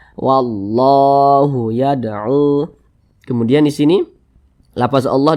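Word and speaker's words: وَاللَّهُ يَدْعُو: Nah, jadi cara membacanya itu dengan cara langsung dimasukkan ke huruf lam ini. Jadi huruf lam yang ini tidak dibaca, makanya di sini kan tidak ada tanda bacanya. Nah, dibaca wallahu yad'u.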